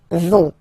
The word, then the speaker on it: vont: Ils, elles vont. Ils vont. Elles vont. Okay, remember, final T not pronounced, so you get this ON nasal here. On vont.